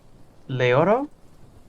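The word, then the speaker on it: Leiro: yeah i yeah i would love to meet leoro it's l-e-i-r-o later okay i'm throwing an extra syllable in there got it i'm not that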